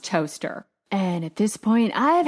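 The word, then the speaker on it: Towcester: of toaster side note this town is spelled like tow Chester but it's pronounced toaster and at this point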